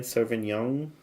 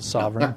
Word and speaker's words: Sovereign: How do you say it again? Sauvignon? The Sovereign. The Sovereign.